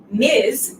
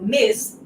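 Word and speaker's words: Ms: form means doctor mister stands for a man miz we pronounce that like is zed so miz this stands for a woman and then professor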